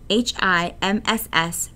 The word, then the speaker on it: HIMSS: information management system society HIMSS pronounced hims proposed a five stage